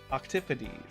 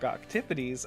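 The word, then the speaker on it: octopodes: And it's like, well, I prefer the Greek pronunciation. Octipodes. Like Octipodes. Octipodes nuts.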